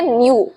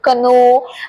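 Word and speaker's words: know: आपको इस बात का ध्यान रखना है कि यहां पर जो के वर्ड है वो साइलेंट है। ऑलराइट। सो के वर्ड को प्रोनाउंस नहीं करना। बहुत सारे लोग कनो बोलते हैं। बट इट इज़ the wrong pronunciation.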